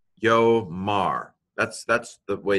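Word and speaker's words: יֹאמַר: And in fact, in this particular situation, you don't have to know this, the aleph is quiescent, which means it goes quiet. Again, so we just say yo, yomar, yomar.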